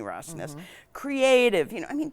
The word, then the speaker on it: Rosnes: Rosnes, yeah.